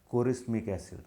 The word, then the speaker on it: chorismic acid: Many people used to call it chorismic acid, like chemistry, no?